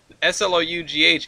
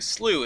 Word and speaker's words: slough: somebody's wrong in there slow s-l-o-u-g-h is typically pronounced s-l-e-w SLU in most of the United States in here's where they